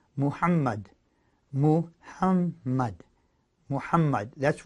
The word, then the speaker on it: Muhammad: that they Revere the last prophet don't say Muhammed cuz that's just not the way that they say it it's pronounced Muhammad move huh might Muhammad that's what that's how